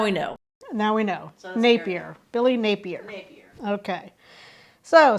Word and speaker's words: Napier: of the Florida Gators Billy nappier is what I called him with I mispronounced his last name so his last name is Napier so I stand corrected